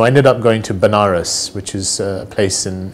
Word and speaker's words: Banaras: to him so I ended up going to Banaras which is a place in in India sometimes pronounces veneris which is a place where they perform their